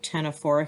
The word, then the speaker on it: Ctenophora: So I'm going to go ahead and put Ctenophora here just for placement. Okay, the C is silent.